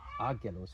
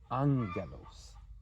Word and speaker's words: angelos: is pronounced as follows it's not agos it's Angelos Angelos and this is a